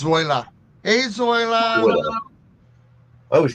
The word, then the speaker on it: Zoila: I can never pronounce that right. Zoila, Zoila. Zoila. hey, Zoe, Zoila. It's Zoila.